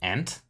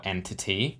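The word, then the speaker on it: EnTT: using a library called ant or entity depending on how you want to pronounce it and in fact I'll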